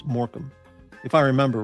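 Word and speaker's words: Morecambe: beachside city called uh it looked like uh Morami. M O R E C A MB E. And she said, "No, you dumb It's Morham." Morham. It looks like Morami, but it's Morham if I remember right.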